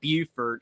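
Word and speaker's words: Beaufort: exact same spelling but South Carolina pronounces it Buford and North Carolina pronounces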